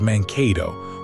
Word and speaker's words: Mankato: An early clerk or mapmaker slipped, transposed a couple of letters and wrote it down as Mankato with an N.